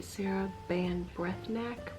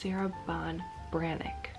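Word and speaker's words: Sarah Ban Breathnach: more about this author so the author is Sarah Bon branck that's actually how you say this it looks like it should be Sarah band breath neack breath NCH after reading the book I kind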